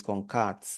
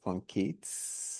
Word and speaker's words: concat: So it's concat not concate wrong pronunciation whichever one works for